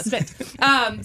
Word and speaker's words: Spindt: Yeah, Spindt.